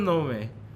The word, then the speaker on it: Nome: Which is Cheryl Nome. Or Cheryl Nome? Cheryl Gnome. Okay, there you Like, go. is it spelled like GNON?